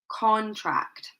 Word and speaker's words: contract: Okay, So notice that the stress is placed on the first part of the word.